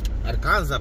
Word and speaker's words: Arkansas: Ale aczkolwiek, słuchajcie, tak jak patrzę, obserwuję sobie tutaj te całe Arkansas, to Arkansas pewnie zaraz, bo S się nie wymawia.